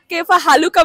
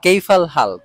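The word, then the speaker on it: كيف الحال: আরবিতে বলার ট্রাই করে বাট একটু মিস প্রোনাউন্সিয়েশন হয়ে যায় যেমন কেফা হালুকা বলে বাট না প্লিজ এটা বলবেন না বলবেন কেফাল হালফা কাইফাল হাল মানে কেমন আছেন আমি মাঝে মাঝে দুষ্টামি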